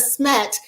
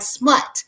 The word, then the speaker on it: SMET: But what happened was some people started mispronouncing the name. So instead of SMET, it kind of started sounding like smut.